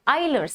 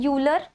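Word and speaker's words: Euler: the third form my favorite form iser's form isers form UL it looks like it is a uler uler is a mathematician right but we pronounce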